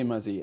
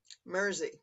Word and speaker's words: Mrrzy: to you uh today mazzy and am i pronouncing that correctly mazzy mersey like jersey mercy yes so mersey had